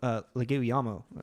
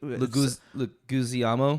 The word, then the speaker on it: Leguizamo: to say that John Leguizamo. I pronounced that horribly wrong. That's why I wasn't saying it because I wanted you to say it right. I actually Leguizamo. You don't pronounce the Z that hard, but I also am